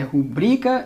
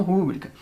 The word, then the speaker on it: rubrica: É rubrica e não rúbrica.